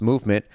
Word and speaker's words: MVMT: MVMT, pronounced movement, grew into one of the fastest growing watch brands, shipping to over 160 countries across the globe.